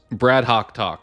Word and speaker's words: Brad Hoc Talk: So it's Brad HOC talk. So kind of rhyming with the second and third word, but the idea was